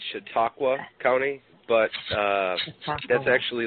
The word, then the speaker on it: Chautauqua: And how do you pronounce Chautauqua? Is that right? Chautauqua County? Well, that's close. It's Chautauqua County, but that's actually like a Indian.